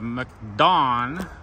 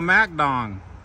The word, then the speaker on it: MacDon: Okay, this is a video on the MacDon. That's MacDon? Is that how that's talked? Mac or Muck? Oh, MacDon. You guys will get all over me for not pronouncing it right.